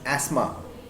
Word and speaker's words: asthma: All this can cause asthma, not asthma, it is asthma. The TH is silent, and bronchitis.